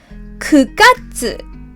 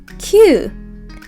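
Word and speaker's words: 九月: don't say 7 The last one is September 9月 9月 We don't pronounce it Q So April 4月 July 7月 September 9月 You need to memorize 3 those exceptions.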